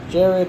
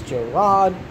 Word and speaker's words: Jerrod: she had a husband King Jerrod not Jared I don't know why they keep saying Jared it's j-rod I'm not saying it